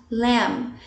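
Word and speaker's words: lamb: léo cuidado com a pronúncia não vamos nos pronunciar um b o b mudo tá ela só vamos leo quer dizer carne de cordeiro a lasanha lasanha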